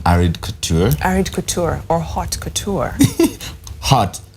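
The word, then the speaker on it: haute couture: call it um arid Couture arid Couture or hot Couture hot not OD in French it's just H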